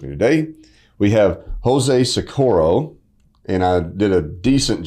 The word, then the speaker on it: Socorro: We have Jose Sakuro, and I did a decent job of pronouncing your last name, didn't I?